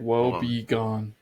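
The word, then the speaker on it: woebegone: gonna write this out it's like wo be gone sad or miserable in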